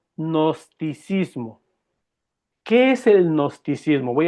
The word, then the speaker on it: gnosticismo: Se llama el nosticismo con G de gato sin a. G, se escribe G y luego seguido gnosticismo.